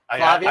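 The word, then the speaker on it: Flavien: Is it Flavian or Flavian? Flavian. I actually asked him because I said I've heard it pronounced both ways. Give me the correct. So now he said Flavian. The A is not long.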